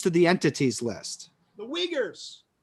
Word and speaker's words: Uyghurs: recent restrictions on trade with china re you ugers i don't know how to pronounce it and additions to the entities list the uyghurs uyghurs thank you i've heard of that yeah i